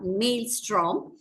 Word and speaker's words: maelstrom: That is M-A-E-L-S-T-R-O-M, maelstrom. You do not pronounce that E, but still there is an E there.